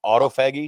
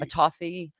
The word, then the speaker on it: autophagy: autofaggy autofagy autophagy autophagy I think you might figure out a different way to pronounce that because right now it sounds like a trip to San Francisco autophagy yeah so